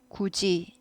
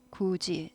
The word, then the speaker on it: 굳이: 읽으면 해도지가 되는 거죠 디귿이 지읒 되는 현상 굳이 하지 않고 굳이 굳이 지읒 발음이 나죠 요즘 근데 네티즌들이 몰라